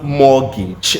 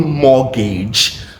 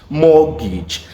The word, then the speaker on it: mortgage: Certainly, it is pronounced mortgage. Not even mortgage. Mortgage. And the T is unfortunately useless.